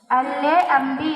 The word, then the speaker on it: lamb: LAMB, lamb. B. Right.